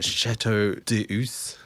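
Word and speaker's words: Château d'Eu: The Chateau d'Eus.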